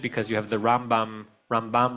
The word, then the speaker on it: Ramban: you have the Rambam Rambam, Ramban, they're very similar. So he would say that the way to distinguish it is that which syllable you stress. It's the Rambam and the Ramban.